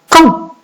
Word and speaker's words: quand: Quand? Alors, vous avez le son en qui s'écrit avec AN et la lettre muette qui est la lettre D.